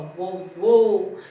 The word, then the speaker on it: vovô: Percebam que quando vocês pronunciam a palavra vovô, o som não está abrindo, ele está fechando, né? Então, ó, vovô é um som fechado.